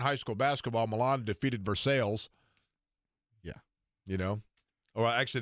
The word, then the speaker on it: Versailles: last night in high school basketball Milan defeated versales yeah you know or actually they would say Versailles if they were from out of town because